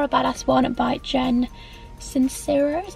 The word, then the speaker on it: Sincero: It's the You Are a Badass one by Jen Sincero, is how you pronounce it.